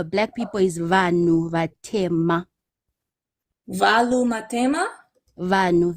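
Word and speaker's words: vanhu: Uh black people is vanu.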